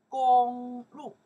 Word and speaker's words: 公路: Gōnglù. This character pronounced gōng, right? Public, right? This character will pronounce the lù. Lù is road or path. Okay. Gōnglù, okay. Gōnglù together, right?